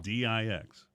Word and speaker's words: dix: by the French with D-I-X, which is de, or whatever, however you say it. I learned French in 6th grade. It's pronounced Dix.